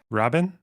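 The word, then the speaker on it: רבין: yum kipor yes okay is it Rin or Rabin it's spelled r it's yeah it's spelled Rabin so it's a r bet yud nunit re is like a like an R uh B is like a b the first way you said it loner yes the first way say it again Robin yeah that's that's closer okay Rabin Rabin you don't you don't you don't stress the the E you don't really interesting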